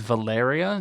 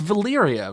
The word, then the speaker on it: Valyria: giscar destruction he says valeria yeah yeah and was coming to malaria the doom as it would later be called it's valyria right it like that's how that's how the y is pronounced yeah valyria valeria zellarion